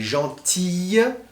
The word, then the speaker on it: gentille: Attention, gentil et gentille, c'est vraiment différent. On l'entend dans la prononciation.